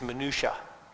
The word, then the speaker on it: minutia: my new day hmm your pronunciation could be accepted but it's pronounced differently I'm going to give you the best deal it is minutia one point steel Farmington